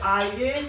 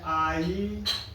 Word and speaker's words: IAS: लेकिन जब IAS को पढ़ते हैं, IAS, अलग अलग कर पढ़ते हैं, पहले एक फिर